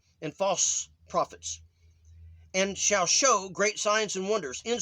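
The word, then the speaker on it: shew: very elect okay uh you notice that i pronounce the e in the word shu s-h-e-w with uh the sound of a long o show is that okay but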